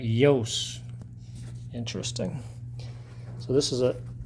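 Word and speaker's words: Iooss: And they talk about in his uh here how to how to pronounce his name. Walter Yos. Suspend disbelief and pronounce that Yos.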